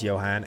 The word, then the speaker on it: Johan: Right, so one, I did pronounce his name right, it is Johan, and two, that is the guy we read about a little while ago.